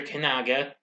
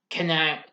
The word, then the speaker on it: Kananga: Kanaga, James Bond 007 is sent to New York to investigate. Kananga, I mispronounced it. Kananga, so my mistake, is also in New York visiting the UN.